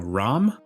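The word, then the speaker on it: רעם: I'm sure I'm not pronouncing it correctly by just saying Ram, but you get the idea.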